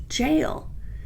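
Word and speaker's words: gaol: So even though it looks like a dyslexic goal is pronounced jail.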